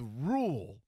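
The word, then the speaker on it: Ruehl: h l or something it was spelled like a sort of like the coach Matt rule there was a there was a random H in there and then you know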